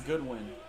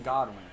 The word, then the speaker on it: Godwin: that kick tip julian he just pronounced some goodwin so my knowledge it's always been godwin so in the end